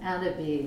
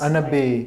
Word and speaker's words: AnnaBis: We pronounce it AnnaBis, which is AnnaBis. like the French for cannabis without the C.